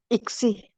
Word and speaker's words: ICSI: ICSI.